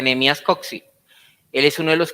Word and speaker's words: Nehemías Coxe: Nehemías Coxey, creo que se pronuncia Nehemías Coxey.